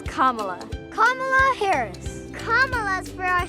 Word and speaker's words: Kamala: in California that actually shows you how to pronounce it. Let's go. It's not Kamala. It's not Kamala. It's not Kamala. It's Kamala.